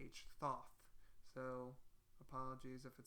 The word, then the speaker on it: Thoth: That's actually how it's spelled and pronounced. Thoth. Thoth.